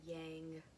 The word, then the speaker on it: yang: feminine um you'll hear people say yang it like hurts my mouth even to say it that way but that's just me and i was trained in traditional chinese medicine so i have different pronunciations than what you would hear out here in the west right so uh little